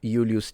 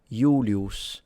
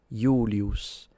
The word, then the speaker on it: Julius: In ecclesiastical pronunciation, we say Julius Caesar. And yeah, that's not how he would say it. He would pronounce it Julius with a long U and a retracted S at the end.